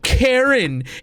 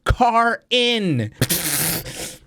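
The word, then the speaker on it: Karin: Oh, Eddie, it's not Karen. It's spelled K-A-R-I-N, which is car-in.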